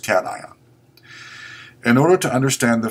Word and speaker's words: cation: called a cat ion it's not pronounced cashion as some of you will like to pronounce it it's pronounced Caton in order to understand